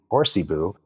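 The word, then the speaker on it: Hoarcebu: You got it's it's spelled funny. It's H O A R C E B U. Horsey Boo.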